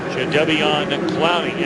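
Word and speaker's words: Jadeveon Clowney: Jade Devian Clowning. And that is the way, by the way, he wants his name pronounced.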